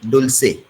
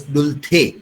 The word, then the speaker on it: dulce: Spanish word, dulce. Sometimes it is also pronounced as dulce, dulce, the or se. That is how it is pronounced.